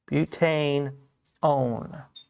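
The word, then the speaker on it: butanone: o and e and we don't pronounce that as the number one it's actually pronounced own so we take that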